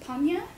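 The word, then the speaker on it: Hannya: that's because the word Hanya is actually the it was imported to Japan through Buddhist missionaries and it's a Buddhist word that actually means wisdom stands for it in origin it's actually pronounced panya and it refers to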